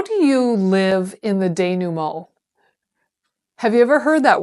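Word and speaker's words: dénouement: So it's spelled Denouement. In my world, I would have thought it said denouement. But it's French, so we pronounce it denouement.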